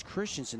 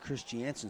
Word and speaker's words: Christensen: By the way, the correct pronunciation for Gavin Christensen is it's Christensen, not Christiansen, so apologize for that.